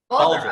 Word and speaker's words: Bulger: How do you pronounce that, Mike? Bulger, okay.